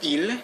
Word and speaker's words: il: is you have to be careful with the pronunciation here with eel there's no problem it's pronounced like that ill but with l l is spelled e-l-l-e but